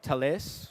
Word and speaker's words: Thales: We partnered up with a company called Thales.